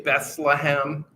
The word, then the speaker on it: Bethlehem: The Hebrews don't have th. So when you say Bethlehem, they would not say th. It's bet. So it's a hard T.